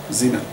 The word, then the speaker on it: Zeeman: And so the next 3-4 sessions are about the Zeeman effect.